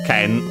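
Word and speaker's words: 剣: word like it is, the accent is on the ke, so ken. If it were unaccented, it would be ken.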